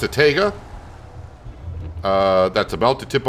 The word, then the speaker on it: TGA: model but it's a TGA I used to pronounce it taga but then a lot of people correct me and said no it's pronounced TGA uh but what is it called it's a